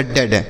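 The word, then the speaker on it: dead: उसके बाद डी ई ए डी, तो डी से हो गया ड और डी से फिर ड, ई ए का उच्चारण ए की मात्रा, तो हो गया डेड।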